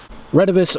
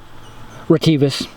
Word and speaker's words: Retevis: we got here today redivus or retivis depending upon how you want to pronunciate it i call it renovus anyways they make really